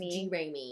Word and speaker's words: Jeramey: It's pronounced Jeramey.